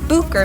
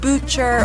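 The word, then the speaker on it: Bucher: historic vineyard is the bucker vineyard people will often say butcher or even boucher another historic vineyard the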